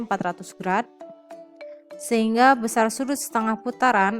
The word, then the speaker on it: grad: satu putaran penuh adalah 400g atau dibacanya 400 grad sehingga besar sudut setengah putaran adalah 200 gr besar sudut 1/4at putaran adalah 100 grad besar sudut 1/400 putaran